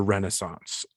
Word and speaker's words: Renaissance: were what signaled the Renaissance of of RPGs and what has what has really taken us now into this modern era um it's pronounced renaissance renaissance the uh the the